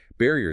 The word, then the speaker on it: barrier: Barrier stress on ba.